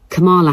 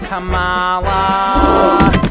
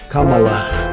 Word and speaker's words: Kamala: know about camela Harris and don't you dare pronounce her name Camala it's CA that is what's called leadership CAA she's finally come to save the day cuz I in this race to win Kamala CAA girl don't get in her way so